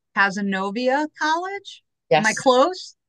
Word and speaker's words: Cazenovia: So you were educated at, I probably will not pronounce this correctly, Cazenovia College. Am I Yes. close? You got it, Cazenovia.